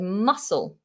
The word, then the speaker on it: muscle: said there are exceptions another exception to the rule is the word muscle muscle muscle in the c in muscle is followed by an l and yet it's pronounced as an s that doesn't make sense